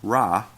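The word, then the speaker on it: רע: Well, it's Hebrew 74:51, and it's pronounced Ra.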